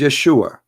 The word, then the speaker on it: Yeshua: those it isn't because they cannot pronounce the correct word the correct word in the Hebrew is Yeshua as simple as that